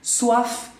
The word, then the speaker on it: soif: Avoir faim, tener hambre, avoir soif, ahí se pronuncia la F, ¿eh? Soif es sed, tener sed, soif, ¿no? Avoir soif.